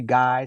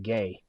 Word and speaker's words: Gay: some people call me guy some people call me guy yes I mean it's like it's like no man it's straight up gay yeah like it's not